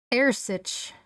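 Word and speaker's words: earasaid: So the D in Gaelic at the end of the word will become a ch sound. Ersich.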